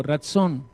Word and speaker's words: ratzón: Ratzón. Ratzón es voluntad, deseo. Diga fuerte, soy ratzón. Con T, ratzón. Soy ratzón.